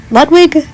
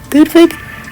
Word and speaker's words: Ludwig: Ludwig, Ludwig, I don't know. People have been saying both. For the sake of this video, I'm just going to say Ludvig because that's how you pronounce Beethoven's name.